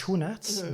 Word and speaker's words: Schoenaerts: the Belgian actor Matthias Schoenaerts. The sch is really hard to pronounce because you don't have it. Yeah. The closest you have is like school, but it's like a hard K.